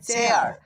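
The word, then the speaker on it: chair: CH, এই দুইটা বর্ণ একত্রে চ সাউন্ড উৎপন্ন করে, এটাও তোমাদেরকে শেখানো হয়েছে। তবে এ আই আর যখন দেখতে পাবে তখন এয়ার উচ্চারণ করবে, এয়ার। তাহলে হয়ে যাবে CH এ চ, এ আই আর, এয়ার মানে চেয়ার, চেয়ার মানে চেয়ার।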